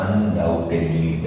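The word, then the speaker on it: undoubtedly: अगला अनडाउटेडली, अनडाउटेडली, इसको याद रखना, अनडाउटेडली, डाउट, B silent, डाउट, डाउटेडली, डाउट, अनडाउटेडली, बिना किसी डाउट के, 100% मुझे उस बात पे भरोसा है।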